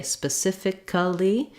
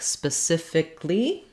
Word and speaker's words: specifically: often hear where with words that end with a-l-l-y sometimes I will hear people say specifically and we typically often don't say the anything for that letter A we say it more like specifically um which looks like